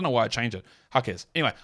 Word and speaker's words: Jaquez: hakz or is yeah hakz or hakz it's hakz hakz which is what I said in originally I don't know why I changed it hakz anyway H hakz that's a lot of hakers